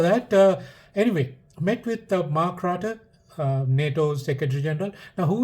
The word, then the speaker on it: Rutte: The last name is pronounced Rutte. I don't want to pronounce it's like a woman's name. Some newscaster uh, pronounced it's Ruth. I think it's. I like to say the way I feel, right? I think it's Ruta or Rata, whatever.